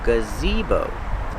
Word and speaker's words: gazebo: the name is gazebo the first sound is the relax uh then you have the long e gazi bow use the long o like know and go gazebo the stress is on the second syllable gazebo this is a